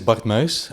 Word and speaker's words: Bart Muys: So you will hear the proper pronunciation. So let's begin. My name is Bart Muys.